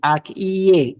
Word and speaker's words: akye: Y ahí como si fuera una I. Akye, ie. No lo vayas a pronunciar como la doble L o la Y, que a veces suena como Y, no, sino como una I.